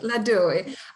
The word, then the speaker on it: Ladoui: And today we have a special guest with us, -Ladoui, or how do you pronounce that? Ladoui. Ladoui.